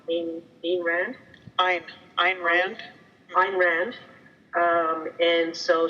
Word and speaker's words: Rand: she's been reading um you know I never pronounced this properly being being ran I'm I'm Rand fine Rand um and so she's fallen into